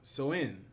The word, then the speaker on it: Samhain: It says Halloween originates date back to the ancient Celtic festival Samhain, pronounced Samhain.